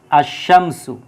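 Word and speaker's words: আশ্শামসু: লামের উচ্চারণ হয় না যেমন আমরা যদি দেখি এই জায়গায় যদি আল দিয়ে আমরা বসাই যেমন আশামসু আশামসু যদি আমরা দেখি আসশ শামসু এটার মধ্যে দেখেন যে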